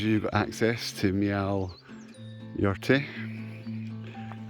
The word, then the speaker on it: Meall Ghaordaidh: you've got access to meow your tea I know it doesn't read like that but it's how it's pronounced roughly and we're gonna follow